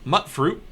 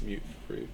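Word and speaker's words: Mutfruit: two Tes mute fruit it's not pronounced mut it's pronounced mute like mutant one bottle of purified water o and it Rhymes mute fruit mute M really really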